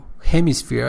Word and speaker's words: hemisphere: let me see him hemisphere I think it mispronounced it but the further the pronunciation the first syllable is pers let's say receives their stress hemisphere hemisphere and I think it